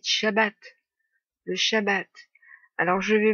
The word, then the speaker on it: shabbat: frères et mes soeurs ne dites plus saab a dit shabbat le shabbat alors je